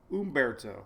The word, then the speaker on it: Humberto: E, no, I just remember E. Even though it's an I, it's pronounced with an E. Umberto.